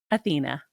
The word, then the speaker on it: Athena: And congratulations on Athena. Do you Thank pronounce it you. Athena or Athena? Athena.